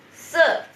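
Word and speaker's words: 四: yang tadi se nah bacanya se gitu ya se nada keempat jadi menyentak se gitu Halo salam kenal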